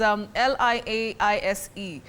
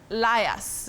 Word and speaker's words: liaise: You say liaise, to liaise with somebody, not to liars that we commonly use locally.